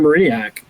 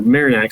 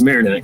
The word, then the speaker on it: Marinac: and you go to Conor Mariniac or Marinac, sorry. I've been saying his name wrong since I started recruiting. He never corrected me. So, um, but it is Marinac.